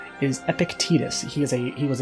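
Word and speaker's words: Epictetus: Uh that's how it's pronounced. By the way, I said Epic Epictictus is Epictitus.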